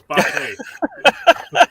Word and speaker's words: Botte: So it's Botte. It's Italian. It rhymes with latte.